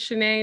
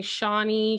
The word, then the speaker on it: Shanae: was just like, hey, my name's Shanae. It's pronounced that way because people were saying Shawnee, Shayna, Shani, Shaw.